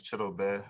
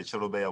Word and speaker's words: Chidobe: your name all right so my correct what craig which pronounced my name is chitto bed i was yeah but most people say chilobaea wuzier and that's that's that's perfectly fine so that's acceptable to